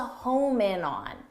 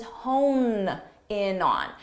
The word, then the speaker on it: hone in on: native speakers not students many native speakers mistakenly say home in on we need to home in on and that's because in pronunciation they're very similar honin Homan and hone what's that it's not really used very much but everybody knows the word home but this isn't correct the expression is not home in on the expression is hone in on so make sure you